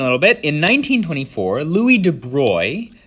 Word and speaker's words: de Broglie: bit in 1924 louis de bruy this is how it's said uh louis de bruy as a dutch person